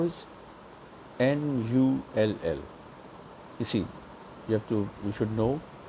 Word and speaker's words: null: 0 is N-U-L-L. You see, you should know how to spell it.